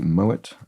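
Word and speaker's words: Moët: Big name in bubbly, Moet of Moet et Chandon. T is pronounced because, I think because it derives from a German name.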